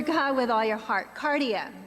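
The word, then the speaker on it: καρδία: Cardia. We know cardiac, right? Cardia.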